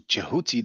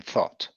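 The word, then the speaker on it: Djehuti: individual so that's uh what the Greeks called thought what we call jehoti according to the Trump situation the pronunciation was uh closer to jehoti than thought Greeks called Djibouti now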